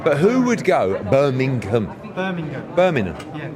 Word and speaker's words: Birmingham: Birmingham. Yeah. It's no, but you're missing the G. It's not a silent G. Yeah, but that's because... It. Yeah, but it's a silent G in Essex.